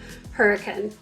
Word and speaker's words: Hurricane: So let's start out with talking about the name Hurricane. If you've looked up on the map, it is spelled hurricane. And so if you don't want to stick out, you want to blend in with the locals when you come for a visit, start practicing now, hurricane.